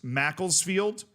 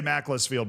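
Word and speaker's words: Macclesfield: Every American you show that to will say Mlessfield. By the way, I just want you to know that. That's not like a Zealand thing. That's just a difference in the way you would read and pronounce words. See, the difference between all of the words you just listed is that's the end of a word and not in the middle of a word.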